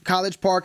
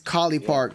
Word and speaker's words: College Park: It's not. I know College Park is what it's referencing to, but it's Collie Park. It's Collie. That's how you pronounce it.